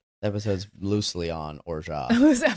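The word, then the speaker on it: orgeat: was like holy that's how you actually say it. That makes perfect sense. Or I am saying or looking at that's or because that's how it's spelled. Oh my god. O R G E A T or it's or Yeah. French or almond.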